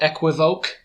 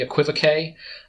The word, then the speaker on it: equivocate: of a funny word some people will call it equiva i think they're mispronouncing and it's really equivocate and what it means